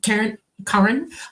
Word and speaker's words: Karen: And it's like, I'm a Swede, so I'm going to put the A before the A, okay? Yeah, it's the Swedish pronunciation, Scandinavian pronunciation, Karen Blixen. Yes. I had a farm in Africa, the Norwegian in that movie Meryl Streep played. Karen Blixen, it's a Scandinavian pronunciation.